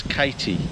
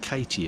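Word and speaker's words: Cati: This is Katie, spelt with a C, C-A-T-I, Katie.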